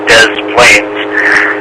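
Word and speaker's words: Des Plaines: words and uh but they pronounce it as Americanized you Des Plains and I have been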